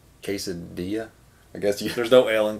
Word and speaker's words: quesadilla: L feels lonely neglected what other word is the L silent quesadilla I guess there's no